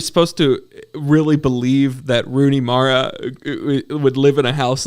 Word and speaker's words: Rooney Mara: And then is it Runa? How do you say her name? Rooney Mara.